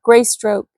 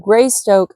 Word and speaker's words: Greystoke: son of the Lord gry stroke gry Stoke of England I don't know why I keep trying to pronounce it gry stroke his great Stoke like stoking a fire Lord greystoke of England did that day in